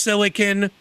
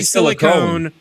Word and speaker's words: silicon: this stuff that you're, it's properly pronounced silicon. People that say silicone are fucking dumbasses.